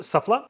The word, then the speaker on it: SUFFLA: us we have the suffla metal detector I believe you that's how you pronounce it suffla this is the SMD